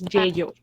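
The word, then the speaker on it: 예요: No es que yo, es yeyo.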